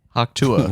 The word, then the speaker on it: Hawk Tuah: That's Is it Hawk Tuah or Hawk Tui? Hawk Tuah. Hawk Tua. That's how she said it.